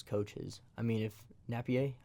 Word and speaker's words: Napier: is I mean if Napier I think is how you say his name Napier Napier I'm sorry to those it's not as French it's not as French as it looks yeah to to Florida